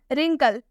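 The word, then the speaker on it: wrinkle: रिंकल, इसे हम रिंकल नहीं पढ़ेंगे, इसे हम रिंकल पढ़ेंगे क्योंकि इसमें W के बाद से R आया हुआ है तो इसमें भी W साइलेंट है।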